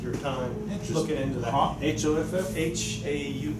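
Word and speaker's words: Hough: H-O-F-F? H-A-U, how do you spell it? H-O-U-G-H. A hue. Yeah, well, Let's- they pronounce it Hoff, I think, H-O.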